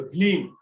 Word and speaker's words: ह्लीम: त ई ह्लीम जे मंत्र छै, ह्लीम एकरा पढ़नाइयो एना छै, साथ में छै ने त ह्लीम पढ़बे, एना नहीं कि हलीम पढ़ देबे, ठीक छै।